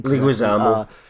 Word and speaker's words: Leguizamo: I can't pronounce his name. Leguizamo.